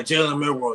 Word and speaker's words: Jalen Milroe: Yeah, Jalen Milroe, yes.